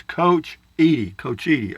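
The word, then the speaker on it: Cochiti: New Mexico of south of Santa Fe it's coach coachy I got it thank you Texas Life Julie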